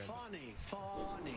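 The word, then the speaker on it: Fani: It's spelled Fanny like your ass, right, Fanny? But when she became DA, she decided to add a little French, a little fancy. Fonnie.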